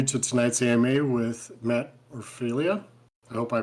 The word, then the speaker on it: Orfalea: It's actually Orfalea, but Orfalea. Orfalea, Orfalea. It's basically the one pronunciation that it is, or the one that looks like it's least correct is actually the correct one.